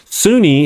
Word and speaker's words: Sunni: Shia and a Sunni Sunni is kind of spelled like sun as in Su n but it's son like son father son even though it's spelled that way and so you think